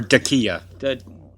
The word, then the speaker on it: Dacia: Or Dacia. Dacia. I think it's pronounced Dacia.